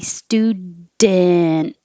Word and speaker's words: student: didn't with a D or student with a syllabic in which means the in is making a syllable all by itself so with the D you release the D student student and with this just the in noise you put your tongue up in the D position which is the same as the in behind your top teeth and then you make noise so you hold